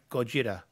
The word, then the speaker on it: Gojira: Gojira. G-O-J-I-R-A. Japanese for Godzilla. Can you pronounce it?